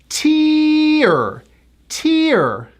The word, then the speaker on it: tear: face when you cry it has that high e sound to an R tier tier I'm crying tears down